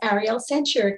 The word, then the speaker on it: Ariel Sanchirico: so first and foremost uh my name is ariel sanchez yes that you did pronounce that right i currently live and work